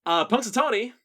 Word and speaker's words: Punxsutawney: You might not hear it phonetically, but there is an X in the middle of the word Punxsutawney. Yes. Punxsutawney, it comes from the two words in the Algonquin language.